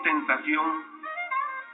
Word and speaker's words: tentación: Si digo tentación, el acento recae sobre la última sílaba.